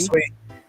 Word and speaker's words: Sui: I mean, and then the big announcement today with I don't even know how to pronounce it. Is it Sui? Sweet.